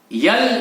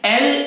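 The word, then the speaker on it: L: यल यम यन ये गलत है। सही प्रोनाउंसिएशन क्या है? एल एम एन।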